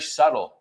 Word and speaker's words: subtle: La B no se pronuncia Es- tampoco. Subtle. Ah, subtle. Subtle. A ver si pueden encontrar más, porque seguro que hay más palabras con esa B muda.